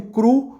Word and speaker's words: cru: usado na França eu vou falar cru em português tá gente tem gente que fala no sotaque francês e a gente que fala qual a pronúncia francesa falar em português mesmo aqui para simplificar Tá